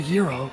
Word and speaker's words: gyro: Okay, so it's accepted pronunciation when referring to the food is gyro, according to Merriam-Webster. Soft G at the beginning, like gyro, but this is not the standard Greek pronunciation in Greece and among. Yeah, it's typically pronounced closer to gyro.